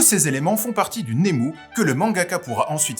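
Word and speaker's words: ネーム: Alors, Nemu, qu'il faudra prononcer Nemu pour ne pas passer pour un bouffon, est un terme difficile à définir, mais vous me connaissez, j'aime les défis.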